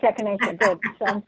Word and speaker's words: echinacea: Oh, the gardener said then that it's echinacea.